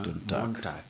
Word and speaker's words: Montag: Le G final se prononce comme un K. C'est ça. Donc, c'est pourquoi on a Montag.